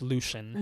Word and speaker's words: Lucien: close friend to Tamlin Lucen was is that how you say it I I heard it pronounced Lucian Lucian okay was a member